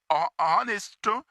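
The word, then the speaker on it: honest: तो यहाँ पर ऑनेस्ट, इसमें एच साइलेंट है। जब एच साइलेंट है तो ओ से वर्ड शुरू हो रहे हैं, और ओ ये वॉवल साउंड है, वॉवल साउंड है, तो लिहाजा यहाँ पर एन इस्तेमाल होना चाहिए। ठीक है, ऑप्शन डी इसके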